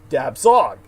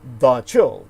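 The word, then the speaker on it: dab tsog: d-a-b space t-s-o-g and your average person looks at that and they'll say dab zog and that's not how the cambodian or kampuchean people pronounce it so they would say da chil the death spirit and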